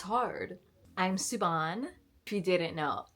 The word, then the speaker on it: Suban: say my name ever people think that my Instagram name like suban brn is Suburban like where did you get Suburban from suban suban let's practice it together suban suban like should